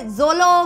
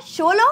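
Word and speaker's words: Xolo: बहुत डिफिकल्ट है क्योंकि लगा था की उसको प्रणाम करते होंगे जोलो मैरिज है ना लेकिन ऐसा नहीं है उसको प्रोनाउंस करते हैं शोलो हमारी ड्वेनिया हमारी दुनिया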